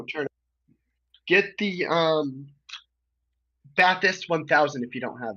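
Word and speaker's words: Bathurst: Baist. It's pronounced ba'ist.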